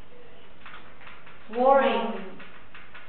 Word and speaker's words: worry: Worry. Isn't 3. No. Worry. Worry. Two. Worry. Worry. It's 4. Worry. Makes the up sound.